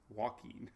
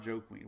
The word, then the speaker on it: Joaquin: oh here it is joaquin walking not joe queen joaquin joaquin was the